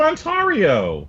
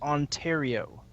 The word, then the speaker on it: Ontario: Why won't you let me pronounce it Ontario? And Tuber, it's pronounced Ontario.